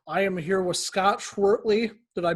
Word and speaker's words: Schwertly: basement guitar superstar i am here with scott schwertley did i pronounce that right scott yeah that's right okay